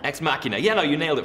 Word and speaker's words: ex machina: cool to be part of how would you pronounce us you a terrible Muriel ex machina ex machina ex machina yeah no you nailed the first time around